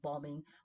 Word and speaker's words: bombing: Remember, bombing, we don't pronounce that B.